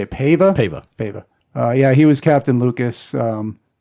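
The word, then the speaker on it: Paiva: Pava.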